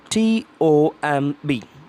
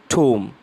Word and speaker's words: tomb: o mb yes here we have to mute the letter B so then that om should become for the pronunciation wo so when you want to pronounce this word Tibo mb you have to pronounce it like t o om t double om so then it becomes tomb yes it becomes tomb